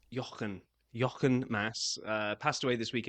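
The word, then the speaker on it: Jochen Mass: how to say this because I knew he's German so it I think it's Yan Yan Mass uh passed away this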